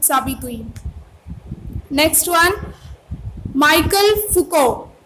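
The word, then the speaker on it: Foucault: Next one, Michael फुको। इसको क्या pronounce करेंगे? फुको।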